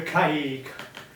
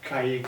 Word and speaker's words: caique: It was called a caique. I think you spell it C-A-I-Q-U-E.